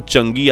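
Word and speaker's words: 嫦娥: चांद की देवी तो भले ही कुछ लोग इस प्रोग्राम को चंगी या चांगी कहकर पुकारते हो लेकिन असल में इसका उच्चारण होता है चंगा खैर पिछले 20 सालों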